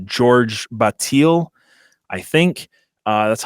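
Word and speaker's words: Georges Bataille: Another one of his influences, and I might get this name wrong, it's George Bataille, I think.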